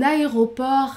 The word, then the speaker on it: aéroport: Un aéroport international. Un aéroport international. Le T est muet, mais je vais faire l'enchaînement entre le R et la voyelle 1.